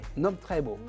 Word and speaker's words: Nomcebo: Nomcebo. Ah oui, il y a quand même un accent tonique là, on avale un peu le C.